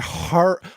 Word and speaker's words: Horror: you say the H did you say the H I did I said horror I usually New Yorkers don't pronounce H's or certain words so I said it I like it easier